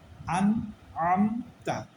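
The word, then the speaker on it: أَنْعَمْتَ: তারপর হচ্ছে আম তা আন আমতা তাইলে আমরা প্রথমটা হামজা এরপরেরটা হচ্ছে আইন আমার এই দুইটা উচ্চারণ ক্লিয়ার করতে হবে আন আমতা আমি আন আমতা বললে এটা ভুল বলতে হবে আন আন আন আমতা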